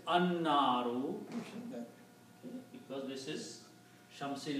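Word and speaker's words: النار: So when you put al, one dhamma goes away and becomes naru, and you do not pronounce lam, instead you pronounce noon twice, annaru, because this is shamsi letter noon, so sound of lam goes away.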